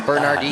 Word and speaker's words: Bernardino: the pronunciation guide, so you must pronounce the R. Bernard. No, Dino. it's got to be Bernardino. No, they Yes, wouldn't. man. If there was a silent R, they would say so. Bernardino. Say it quickly, it'll be Bernardino anyways.